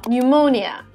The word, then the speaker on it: pneumonia: that is my pseudonym p is also not pronounced when it comes as a first letter in words followed by consonant like psycho or psychology or pneumonia there was never any